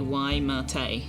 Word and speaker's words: Waimate: Pronunciation is roughly Waimate.